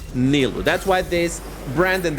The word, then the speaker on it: Nilu: Some people say Nilu, but the actual pronunciation of it is Nilu.